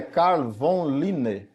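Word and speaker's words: Carl von Linné: dessa taxonomia é Lineu nome dele é carvon line para nós mas pronuncia-se Lineu as regras da classificação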